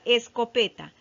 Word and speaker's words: escopeta: Ahora vamos a buscar la sílaba tónica. Es escopeta. No, ahí no está. Es co peta. No, tampoco está ahí. Es co pe ta. Ah, ahí se encuentra la sílaba tónica en P, ¿verdad?